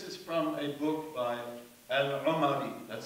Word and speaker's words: al-Umari: And this is from a book by Al-Umari, that's how you pronounce that word.